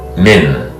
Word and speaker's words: Min: letter is M the second letter is I pronounced as it here and the third letter is n min mean pop T min pop T V not